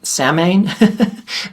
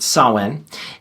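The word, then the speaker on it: Samhain: It looks like samine, but it's gayla. It's pronounced sawin.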